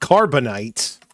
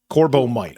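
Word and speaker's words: corbomite: No, not carbonite. Corbbo might. Okay, I have been saying it wrong.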